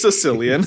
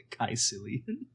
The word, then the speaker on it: caecilian: Sicilian. Not for people from Sicily, but Caecilian. Caecilian? I was pronouncing the AE like aether.